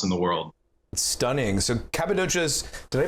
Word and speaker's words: Cappadocia: So Cappadocia's, did I pronounce that correctly?